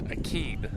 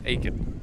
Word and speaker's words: Akeen: And I think they pronounce this Akeen. Akeen? Not Aiken.